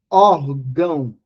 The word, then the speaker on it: órgão: por exemplo de de órgão de ou órfão nós temos aqui o acento agudo para demonstrar que essa sílaba é uma sílaba tônica aberta órgão Órfã certo mas